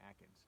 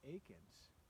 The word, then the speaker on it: Akins: I've been always saying Jan Akins. It's actually pronounced Jan Akins.